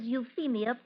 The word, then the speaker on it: Euphemia: Uh, gentlemen, the name is Euphemia Prescat. Miss, the ph is pronounced with a sound of F.